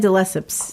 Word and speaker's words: de Lesseps: it the Lepus let's never say correctly and de Lesseps yes she dressed up for Diana Ross as